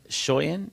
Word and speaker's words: Skøyen: Skøyen is a tricky one, so we just go with Shoyan.